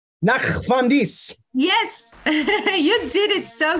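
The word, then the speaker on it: ნახვამდის: Nachvamdis. Nachvamdis.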